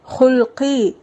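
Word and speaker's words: خلقي: அந்த துவா அல்லாஹும்ம அஹசன்த ஹல்கி அஹசின் ஹுல்கி தமிழுல கல்கின்னு எழுதப்பட்டிருக்கும். ஆனா நம்ம உச்சரிக்கும் போது அரபு வார்த்தையான ஹல்கி அப்படின்னுதான் உச்சரிக்கணும். இந்த துவாவோட அர்த்தம் யா அல்லாஹ் நீ எனது முகத்தை அழகாக்கியது போல என்னுடைய உள்ளத்தையும் அழகாக்குவாயாக.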